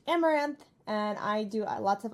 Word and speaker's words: Amouranth: hi guys I'm Caitlyn My Stream name is pronounced amaranth and I do lots